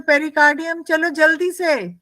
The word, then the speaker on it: pericardium: pericardium and what is the function of the pericardium yes fixes the heart in one place